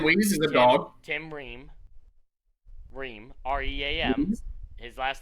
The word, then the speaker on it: Ream: Tim Ream. They're not going to rest him in an Tim elimination Wees? game. Tim Ream. Tim Wees is a dog. Tim Ream.